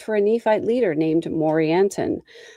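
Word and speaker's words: Morianton: A maid servant worked for a Nephite leader named Morantinon. Morantinon rhymes with Coranton.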